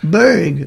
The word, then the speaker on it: Berg: I'll be at Burridge Park, is it called? Berg Park. Berg. It's a hard G.